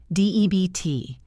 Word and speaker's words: debt: D-E-B-T, debt. The B is completely silent.